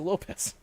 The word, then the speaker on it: Lopes: My takeaway that was pretty okay is Lisa Lopes is not Lisa Lopes. It's Lisa Lopez, even though it's spelled with an S.